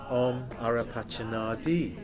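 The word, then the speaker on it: Om Arapacana Dhih: And then the next bit is a mantra, Manjagosha mantra, Om Arapachanadi, which rhymes with free. Om Arapachanadi.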